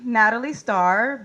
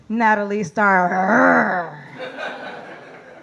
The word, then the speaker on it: Natalie Starr: my name is natalie natalie starr but my grandfather he was a hippie also like y'all so it's star with two r's so it's actually pronounced natalie star and for those of